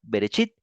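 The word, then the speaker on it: בראשית: del Génesis en hebreo berit Sí así se pronuncia berechit y quiere decir en el principio ya que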